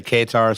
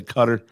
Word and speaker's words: Qatar: there in Qatar uh Qatar I think it's Qatar is how that's pronounced some people say katar some people say cutter I believe it's Qatar